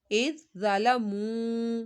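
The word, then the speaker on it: إذ ظلموا: جب ہجے کریں گے تو دال کو نرمی سے پڑھیں گے، لیکن رواں میں دال نہیں پڑھا جائے گا، اور صا حروف مستعلیہ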